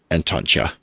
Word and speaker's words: Antontja: Antontja. It's a Dutch sound.